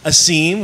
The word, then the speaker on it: Asim: It is Asim. We were right a few episodes back.